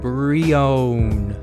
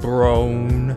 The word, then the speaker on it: Breone: how you say my name it's very own brionne not brionne not brown oh okay that's kind of weird but um